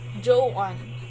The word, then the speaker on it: Joan: alpha and november we're we always pronounce that one as joe one joe on yo but if you're talking to american people when you say may i speak with joe on they will always